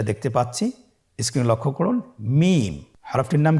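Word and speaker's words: ميم: মিম। হরফটির নাম কি? মিম। মিম হরফটি উচ্চারণের ক্ষেত্রে অবশ্যই বারিক হবে, পাতলা হবে এবং 3 আলিফ টেনে উচ্চারণ করতে হবে। আমার সাথে আরেকবার চেষ্টা করুন। মিম।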